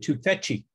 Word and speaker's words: Tufekci: And she pronounces it Tufekci.